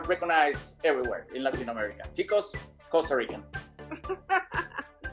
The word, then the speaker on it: tico: I may not pronounce it correctly, but Costa Ricans refer to themselves as ticos, which would be males, and ticas. Did I pronounce it right, tica?